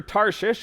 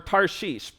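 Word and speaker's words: Tarshish: Lord and headed for tares or tarish I'm going to call it tarish there's different pronunciations um the one that I think is correct is tari so he went down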